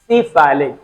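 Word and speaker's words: cephalic: will use medical terminology, this time you have to speak actual pronunciation। सिफाइलिक, ध्यान देना, बात करेंगे बेटा सिफाइलिक वेन की।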